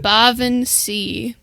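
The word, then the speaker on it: baobhan sith: It's pronounced Baaron C.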